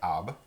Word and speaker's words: arbre: Si on va commencer avec le mot arbre, pour arbre, on ne prononce pas les R, on ne sait pas un arbre, c'est arbre.